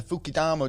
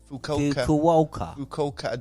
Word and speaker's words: Fukuoka: The stadium actually is 40,000 capacity at the Fukidama Dome. My opinion, a waste of money. Waste of money, I thought. Can't let me pronounce this. What? Fukuoka Dome.